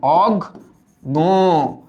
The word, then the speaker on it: অজ্ঞ: কিন্তু এবার আসো তো, এই অজ্ঞ যখন আমরা উচ্চারণ করলাম, এটার উচ্চারণ আসলে এরকম, অগ গ।